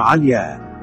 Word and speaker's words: علياء: معنى اسم علياء، اسم علم مؤنث عربي. معنى ذات العلاء، رأس الجبل، السماء، الشرف. وقد يسقطون الهمزة في نطقهم مثل عليا، وهي مغنية مشهورة اشتراها المعتصم ب5000 دينار.